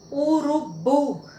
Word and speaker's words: urubu: Urubu. O bu é sílaba tônica, uma palavra oxítona.